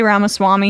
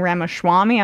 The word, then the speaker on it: Ramaswamy: a bromance Brewing he's he can't say ramaswamy he's been saying Rama Swami I'm not sure if